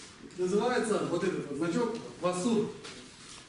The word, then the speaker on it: ཝ་ཟུར: Называется вот этот вот значок васур. Какой тон будет в сур? Низкий. Васур. На востоке Тибета это произносится как вазур.